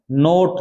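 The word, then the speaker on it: knot: पुत्री होता है ना नोट नोट का मतलब होता है गांठ क्या होता है गांठ नाउन होती है के के साथ में एन आने पर के साइलेंट रहता है याद रखना नोट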